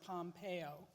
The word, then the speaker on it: Pompeo: Pompeo from Kansas yes that's pronounced Pompeo because I was I was backstage and reminded me about the the volcano and in Italy he was elected